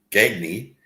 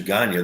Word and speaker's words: Gagne: the East Coast, and out there they pronounce the name Gagne, but it's actually Gagne. There's a little accent with it. It's a French name.